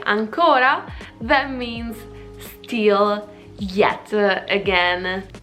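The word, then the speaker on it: àncora: It is ancora, with the accent like this.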